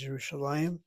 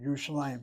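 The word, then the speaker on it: ירושלים: She has Yerushalayim and the accent over that lamed. The lamed is a patach underneath it. Patach is a short vowel. Open syllable gets accented.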